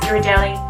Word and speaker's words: Ghirardelli: I pronounce it Ghirardelli. I apologise if it turns out I'm pronouncing that wrong.